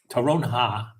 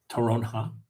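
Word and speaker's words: toronja: Terronha. The J is pronounced like an H. Terronha.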